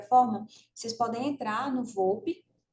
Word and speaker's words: VOLP: O dicionário, não é dicionário não, é VOPE, que é o vocabulário VOPE, ortográfico, vocabulário ortográfico da língua portuguesa, tá? Anotem aí, se escreve VOLP, depois vocês podem pesquisar.